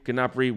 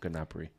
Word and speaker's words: Gnabry: Gnabry way better than Antony anyway in general."